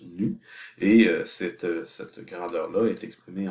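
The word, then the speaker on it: ν: Donc, la lettre que vous voyez ici, c'est comme un V stylisé, là, ça se prononce nu, et cette grandeur-là est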